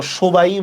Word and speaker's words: সবাই: আমরা তো সবাই বলবো না, বলবো সবাই, কি ঠিক না? সবাই।